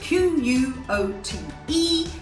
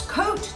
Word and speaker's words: quote: mispronounced as coat so q-u-o-t-e say out loud what do you usually say come on be honest if it's coat that's wrong but if it's quote that's right well done our next